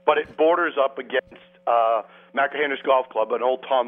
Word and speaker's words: Machrihanish: How do you pronounce this dunes course? Machrihanish Dunes.